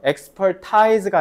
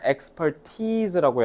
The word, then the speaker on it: expertise: Without any, 자 이거 발음 잘해야 돼요. expertise가 아니라 expertise라고 해야 돼요.